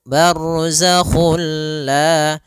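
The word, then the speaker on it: برزخ: ya Sehingga langsung masuk barzak dan dia bila gunah berarti tidak boleh disertai dengan gunah tidak boleh ada penahanan tidak boleh bar gak boleh tapi langsung saja bar Kemudian pada lafal La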